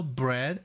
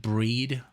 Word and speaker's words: Bread: Okay, so now Bread is next. And I thought you would pronounce it breed, but that would be double E. So bread is correct.